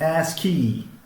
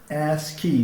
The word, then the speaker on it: ASCII: for information into change we usually write it this way ascii and pronounce it as key as key the way we we write it this way as key okay this ascii is